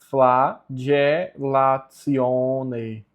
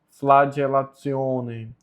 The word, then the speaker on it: flagellatione: O T com o I mais a vogal O. No latim fica TSI mais a vogal. Então fica tissio. Tissio. E aqui, G. Então a pronúncia correta é flagellatione. Flagellatione.